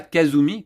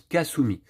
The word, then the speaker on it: Kasumi: qu'en japonais Kasumi Kazumi ça se prononce pas Kazumi comme je le fais depuis le début de la campagne ça se prononce Kasumi donc maintenant écoutez je